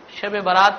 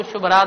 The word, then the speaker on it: شب برات: البراءہ کہا جاتا ہو۔ بعض اوقات دیہات میں لوگ صحیح طور سے تلفظ نہیں کرنے کی وجہ سے شب برات کو شب رات بھی کہتے ہیں، تو یہ شب برات کا کیا ہو گیا؟